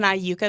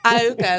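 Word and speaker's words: Iuka: So I grew up in Aayuka, Mississippi.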